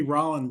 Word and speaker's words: Rollin: introduce yourself well uh my name is Rand uh r o l l i n Rand rhymes with pollen uh I've been living